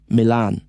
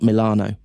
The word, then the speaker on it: Milan: Milan's English influence is so deep that the club's name is still pronounced the English way, Milan, not Milano.